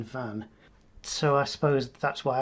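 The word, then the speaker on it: Venn: jean van so she her name was like this j e a n v e double n e and she pronounced her name jean van so i suppose that's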